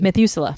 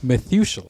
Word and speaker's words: Methuselah: Methuselah. Methuselah.